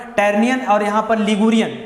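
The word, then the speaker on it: Tyrrhenian: है ये आपका है टरनियन ठीक है टेरियन य यच साइलेंट रहता है यहां पर टरनियन और यहां पर लिगुरियन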